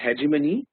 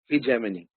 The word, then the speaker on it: hegemony: was a word hijman it's not pronounced hegemon okay it is not pronounced hegemony it is heon heon means domination dominance